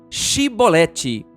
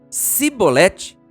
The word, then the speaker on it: chibolete: respondesse que não diziam Então diga chibolete se ele dissesse sibolete sem conseguir pronunciar corretamente a palavra prendiam e matavam no